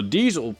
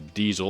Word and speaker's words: Diesel: however i do recognize the diesel or diesel as it is pronounced in german is in fact a